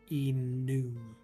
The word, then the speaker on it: enum: in 2021 that I started pronouncing it enum, because my team lead, my project manager, pronounced it that way. And I'm like, that makes a lot of sense. It's short for enumeration.